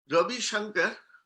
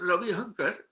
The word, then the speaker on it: Ravi Shankar: ravichi told her look ravi shankar and shopan chowdhury and she said that's what i said ravi hunker and because in assam they don't have song god they pronounce ha so ravi hunger and since then till